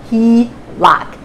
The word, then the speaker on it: HELOC: equity line of credit often called the HELOC and pronounced he locked ah basically is a